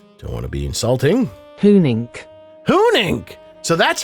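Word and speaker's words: Huenink: right because uh don't want to be insulting hunink hunink so that's how you pronounce the founders of the fun Pimp's last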